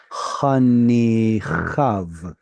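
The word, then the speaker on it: חניכיו: Okay, so unfortunately we don't pronounce the yod. It's hanichav.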